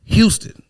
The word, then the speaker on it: Houston: Or there's a street in New York called Houston, Houston. They pronounce it Houston.